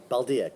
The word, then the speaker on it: Baldia: hi how did I say your name right baldia correct baldia cool I always feel bad when I pronounce people's names wrong so especially since you're